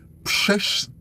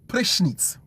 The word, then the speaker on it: prysznic: And then prysznic. No, prysznic.